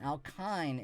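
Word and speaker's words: alkyne: Alkine is the line. It rhymes with line.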